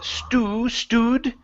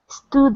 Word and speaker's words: stood: Okay, right here instead of stewed, it's going to be an sound. Okay, so Sarah stood up. Stood up. Sarah stood up. Okay, almost. So here you're saying stew. You're pronouncing an oo.